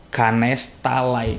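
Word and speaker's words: Ganesh Talai: Nah, dan di dekatnya ini ada sebuah pemukiman bernama Ganes Talai. Ya, mungkin secara pengucapan agak sama tapi yang dimaksud Saroo ini adalah Ganes talai berakhiran huruf I itu ya.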